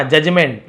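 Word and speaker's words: judgment: दिया हिज यानी अपना जजमेंट यहां पे डी को नहीं पढ़ेंगे जजमेंट का मतलब होता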